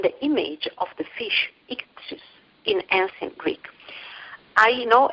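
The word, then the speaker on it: ἰχθύς: Let me pronounce it in ancient Greek, ichthus.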